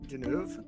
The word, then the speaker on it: Deneuve: She works in a factory with her best friend, Catherine Deneuve. And Good pronunciation.